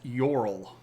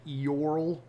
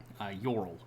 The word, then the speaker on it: Eorl: uh this is pronounced yorl like with a Y almost um so there's a little bit of the E like eorl but it's this is a one syllable word yorl uh Sam and Rosie